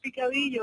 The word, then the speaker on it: picadillo: and it's okay if you laugh at my pronunciations. My Spanish is terrible. You've got, is it picadillo? Yeah, that's picadillo.